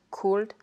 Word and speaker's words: could: On écrit bien avec un L, would, should, could.